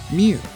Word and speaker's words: mjw: were called was that spelled mjw in phonetics which was likely pronounced mew which egyptologists totally believe